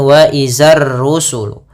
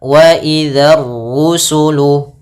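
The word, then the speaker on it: وَإِذَا الرُّسُلُ: Hati-hati pada lafal dal. Jangan dibaca dengan zai. Jangan wazar rusulu. Nah, tapi waidza waidzar rusulu. Kemudian ron-nya tebalkan.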